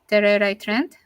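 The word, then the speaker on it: Tererai Trent: Trent, Terera Trent.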